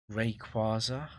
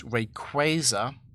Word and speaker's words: Rayquaza: Because Rayquaza, you're putting stress on the penultimate syllable of the word. And long a might actually be correct.